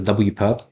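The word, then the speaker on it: W⊥: So this symbol, right, W raised to the power of a perpendicular looking symbol, which you can pronounce as W perp, or at least that's how I pronounce it, is the orthogonal complement of a subspace W.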